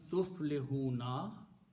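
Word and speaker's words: تفلحون: letters with the pronunciation tuflihuna, you become successful. Okay, you put these three letters. Okay. Important thing is that you have to pronounce this way. Tuflihuna. Tuflihuna means you become successful.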